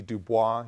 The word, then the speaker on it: Du Bois: it quite literally WB Dubois someone who a lot of you may see Du Bois you see the name it's Du Bois that's the way his family pronounced it W EB Dubois who